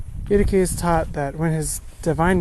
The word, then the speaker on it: Eutyches: His name was Eutyches, rhymes with you the keys. Eutyches taught that when his divine nature and human nature were united, they formed one new nature.